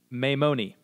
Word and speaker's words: Maimoni: So it's Maimoni, Maimoni.